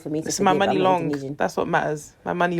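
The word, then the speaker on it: Muni Long: and my sister were calling her like Muny long for the longest and like her name is Money Long Money long which makes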